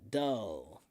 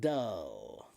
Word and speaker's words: dull: D uh uh dull. So doll and dull.